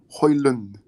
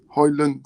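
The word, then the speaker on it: Højlund: in the interviews Erasmus hoyland hoyland so apparently the D is silent so it's then um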